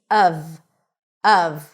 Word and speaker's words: of: Okay, it's pronounced when emphasized uhv, with a cup sound and a V sound. Even though it's spelled with an F, it's a V. uhv.